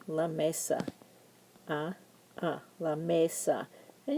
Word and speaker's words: mesa: Mesa a a la Mesa and you'll notice that Mesa is a two syllable word and whenever a word ends in a vowel like Mesa we're going to stress the first syllable Mesa so you're going to